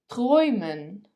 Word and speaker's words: träumen: Our third letter combination is a umlaut followed by u or e followed by u. They are both pronounced as oi, oi. For example, Europa, Europa, neu, neu, träumen, träumen.